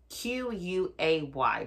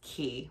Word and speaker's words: Quay: is called key australia it's spelled q-u-a-y but it's pronounced key which i was saying